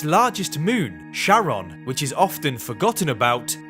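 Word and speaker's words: Charon: to his wife Charlene he pronounced it as Sharon rather than Karen not much was known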